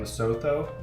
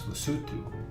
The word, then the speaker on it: Lesotho: way in last episode we were definitely pronouncing lutu wrong we were saying loto it's lutu pretty cool also we're